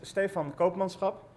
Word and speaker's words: Stefan Koopmanschap: not from the Netherlands has a hard time pronouncing my name um my name is Stefan Copans and uh just as um Evo uh I